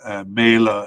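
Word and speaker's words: Mæhle: m a definite candidate and uh MAA it's properly pronounced and uh a likely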